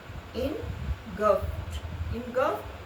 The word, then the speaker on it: engulfed: when the world was engulfed, silent ed or engulfed t sound at the end of t sound, engulfed in ignorance.